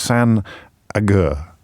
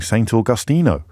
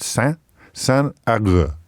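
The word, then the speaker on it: Saint Agur: Not, as I started off saying, Saint Augustino. So we've gone from Saint Augustino or something, Auguran or something, to it's San. It's spelt Saint, but pronounced San Agur.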